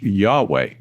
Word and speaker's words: Yahweh: In Hebrew, the word that became Jehovah is usually pronounced Yahweh.